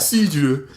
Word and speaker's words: cidre: With the accent, my guy, you gotta pronounce that. Cidre.